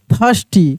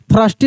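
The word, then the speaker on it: thirsty: टी एच आई आर एस टी वाई थस्टी। क्या पढ़ देंगे? थस्टी। यहां पे आर साइलेंट रहता है। थ्रस्टी नहीं पढ़ेंगे।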